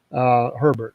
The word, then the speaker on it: Herbert: Herbert.